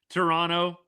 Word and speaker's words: Toronto: That year to me, that was the melt in Toronto. Yes? Or Toronto, sorry, you don't pronounce the second T. Toronto.